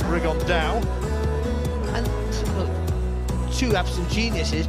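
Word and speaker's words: Rigondeaux: about fighting rigondo or as he's correctly pronounced with the uh spanish accent rig on dow and two have some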